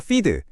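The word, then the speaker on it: FEED: 먼저 피드 피드라고 읽는데요.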